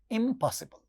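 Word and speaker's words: impossible: तो इसके पहले जब नेगेटिव प्रीफिक्स आएगा तो वो बाइलेबियल साउंड बन जाता है, म. इसीलिए इसका प्रोनाउंसिएशन होता है इम्पॉसिबल.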